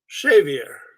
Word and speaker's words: Xavier: every country but uh it's originally uh from The Basque language and it would be pronounced chavier uh the X becomes an sh I know that you